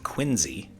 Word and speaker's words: Quincy: home known as peacefield in Quincy or as the locals say quiny Massachusetts the home state